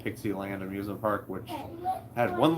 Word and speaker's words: Pixie Land: expect a vlog from Pixie Land. Sounds like you said Pixie Trixie. Yeah. So then after like Pixie stick. Yeah, exactly. It's spelled just like that, like Dixie, but with a P.